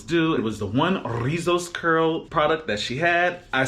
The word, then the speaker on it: Rizos: So that being the case, as you saw the title, I am finally getting into Rizos Curls. It's about damn time. You have to roll your R's.